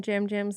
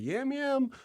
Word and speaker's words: Yam Yam: And at first we were like, is it Yam Yam? No, but no, Jam It's just Jam. it's spelled Yam Yam.